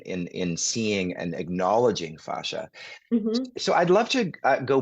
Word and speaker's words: fascia: so I'm I want to ask you about fasha because do you pronounce it FASA or fascia fasha fascia okay yes fasha that's just my you